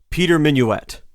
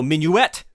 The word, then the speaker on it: Minuit: And so Minuit is probably how the Germans feebly tried to pronounce his last name. So for most of his life, people around him probably said Minuit.